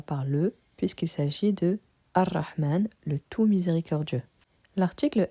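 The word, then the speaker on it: الرحمن: Donc, on ne prononce pas le lemme de l'article, on passe du alif directement au ra. Nous ne dirons pas Al-Rahman, mais Ar-Rahman.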